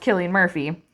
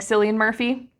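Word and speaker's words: Cillian Murphy: know maybe you know the guy's name is pronounced Killian Murphy but your spouse keeps saying San Murphy and this is not just a random reference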